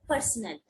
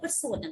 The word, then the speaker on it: personnel: Nurse और any medical पर्सनल। अच्छा यहाँ पे वर्ड देखो पर्सनल, ऐसे कुछ लोग इसे प्रोनाउंस करते हैं पर्सोनल, this is नॉट पर्सोनल, this is पर्सनल।